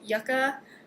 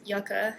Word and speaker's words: Yucca: yarn called Yucca, and she said that it is pronounced Yucca, not Yucca, and I've been saying Yucca this whole time. I didn't know. So I think the right way for this one is Yucca Blossom.